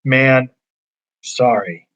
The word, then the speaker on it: Mansory: And we said that actually the proper way to pronounce this is man sorry.